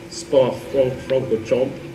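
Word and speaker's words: Spa-Francorchamps: so this is in Spa FR fron Chom as they apparently it's pronounced in Belgium beautiful place up in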